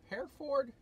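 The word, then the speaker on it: Hereford: and hair food hair Ford pronounced hair for Texas to take me back to Reno Nevada for Saturday morning Jeff was showing his owner mr.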